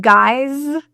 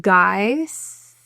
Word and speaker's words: guys: In the word guys, this S is not pronounced as an S. It is pronounced as a Z, or a voiced Z sound. So you're going to hear Z instead of guys.